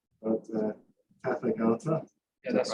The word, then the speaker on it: Tathagata: So if you're on the so our first speaker is you have to excuse me for poor pronunciation, but Tathagata.